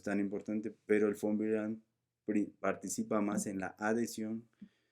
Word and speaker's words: von Willebrand: estos gránulos, y Weibel, recuerden que la W se pronuncia como V, y acá por eso decimos Willebrand, y la V en alemán es como F, entonces es von Willebrand.